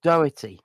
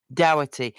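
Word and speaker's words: Doyle: got Admiral doy or how do they pronounce it in the film I can't pronounce it in the film because it's my granny's surname so it's always doy it's doy it's a good Irish name um and mainly because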